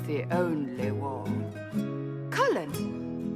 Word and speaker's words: Cullen: it's the only wall cullen that's colin the mage wore a